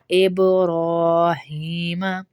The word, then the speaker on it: ابراہیم: عین کی آئے گی۔ آلی ابراہیم، اب پہ با پہ قلقلہ ہوگا، ابراہیم۔ اب یہاں ہماری غلطی کیا ہوتی ہے؟